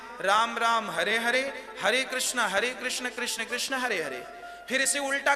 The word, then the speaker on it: हरे कृष्ण: शुद्ध उच्चारण इसका क्या है? हरे राम राम राम हरे हरे, हरे कृष्ण कृष्ण कृष्ण हरे हरे।